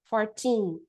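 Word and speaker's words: fourteen: Aqui, lembra que eu falei, a gente vai colocar a força no tim, então vai ficar, a gente vai subir, 14, 14, tá?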